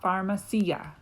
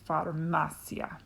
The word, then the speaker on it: farmacia: that's one syllable um it ends with a vowel so the next to last syllable gets the emphasis so it's a farmasia it's not pharmaceutical it's farmacia and then at the